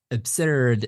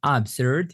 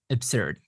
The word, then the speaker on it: absurd: Next one is absurd, not absurd. It's absurd. The stress is on b, absurd. This is absurd, or the life of the absurd.